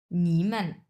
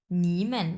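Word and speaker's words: 你们: দেখেন নিমান এইযে মেনে মেনটা হচ্ছে নিউট্রাল টন নি তিন নাম্বার টন মেনটা নিউট্রাল টন স আমরা উচ্চারণ করব এভাবে যে নিম্যান উচ্চারণ করেন নিম্যান মানে হচ্ছে তোমরা নিম্যান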